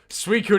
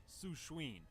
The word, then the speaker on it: Suicune: obsessing Also, over as a kid, Suicune. I would pronounce this Pokemon as Sushween.